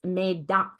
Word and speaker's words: Médoc: So if you are confused about how to pronounce it, it's Médoc, like aqua, ac. So Médoc.